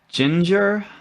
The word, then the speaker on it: Jinjer: you suggested vortex by ginger um it's not spelt like you know like a pale redheaded person in english but uh it is it's with jay instead of g so that's how i'm gonna pronounce it tell me if i'm